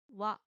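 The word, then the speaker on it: は: Ha is pronounced wa when it's used as the topic marking particle.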